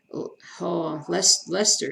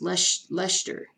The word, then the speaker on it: Leicester: Indians for baseball, Jazz for NBA, Huskers for college football, Liverpool, Leicester, isn't it Leicester?